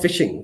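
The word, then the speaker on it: phishing: Uh the landscape consists of fishing. Fishing the the pronunciation is same as fishing.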